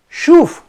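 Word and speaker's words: שׁוּב: La palabra hebrea para arrepentimiento es la palabra S-C-H-W-B grande. Shuf se pronuncia.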